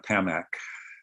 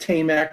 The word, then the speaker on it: Tamac: out more about uh Tam Ma so I'm I'm going to correct you because I just learned how to pronounce it I think I think it's going to be pronounced tamac because the Tate um so I really